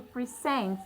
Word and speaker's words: present: So I stress my second syllable to show that this is actually a verb, not a noun. So you can see the difference between the words. When it appears as noun, it shows that the stress is on the first syllable, and that is simply a thing. Now when it appears as verb, it stress on the second syllable to show that that